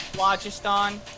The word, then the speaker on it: phlogiston: Now, where's the phlogiston? All right. Moving on. Pronounced phlogiston. Get it right.